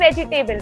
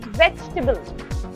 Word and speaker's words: vegetable: मैं आपको बहुत बेसिक वर्ड्स बता रही हूँ, पता है, जैसे कि हम बोलते हैं वेजिटेबल, इट्स नॉट वेजिटेबल, इट्स वेजिटेबल। टेबल word ही नहीं आता।